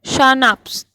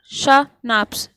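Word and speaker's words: Schnapps: अब देखिए ये है शानाप्स, शानाप्स, ठीक है, प्रोनाउंसिएशन देखिए, SHNAPS, ठीक है।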